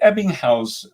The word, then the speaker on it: Ebbinghaus: get his thoughts and uh is it the ebbinghaus uh forgetting the curve is that's how you pronounce it yeah good and your how your